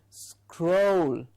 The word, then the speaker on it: scroll: okay scroll oh crow remember the crow the bird and you'll get this absolutely correct it is scroll so all you need to do is say crow and before that a small s so scroll make sure you